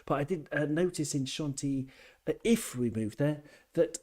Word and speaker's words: Chantilly: You sort of pronounce the double L as a Y. Chantilly, like Bastille doesn't exist in French.